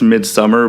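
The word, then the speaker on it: Midsommar: he said either way I heard an interview with re aster and he said kind of both he said it's midsummer but he knows other people pronounce it amid some are mid if I always say mid some are it's just what it reads to me when I see it yeah and I think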